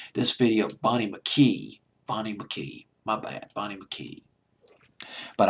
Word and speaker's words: Bonnie McKee: She co-wrote the song with Bonnie McKean. Bonnie McKean. Let me double check on that name. I believe it's Bonnie McKean. I don't want to get this name wrong. This video, Bonnie McKee.